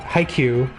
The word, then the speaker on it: Haikyuu: Oppose per page creator, and they use the kanji Haikyuu parenthesis volleyball. It's pronounced with a long U, so it won't hurt anyone to pronounce it correctly.